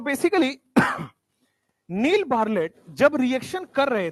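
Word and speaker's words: Bartlett: एक साइंटिस्ट हुआ करते थे पुराने जमाने में, उनका नाम है नील बार्लेट। टी साइलेंट है इनका।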